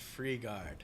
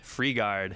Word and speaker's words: Frigaard: good how you doing how do you pronounce your last name I've never said it before pronounced freegard freegard yeah freegard freegard is my